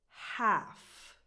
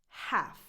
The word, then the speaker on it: half: The H is strong and the L is non-existent. Half.